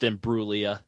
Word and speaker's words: Imbruglia: Like you were going to come up with Imbruglia. Yeah, no, there was no way I was going to come up with Imbruglia. Silent G and everything.